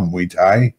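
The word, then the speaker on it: Muay Thai: to Futures uh he enjoys gaming snowboarding and mu Thai is that did I pronounce that correctly Kyle mu Thai yes sir all right and uh as of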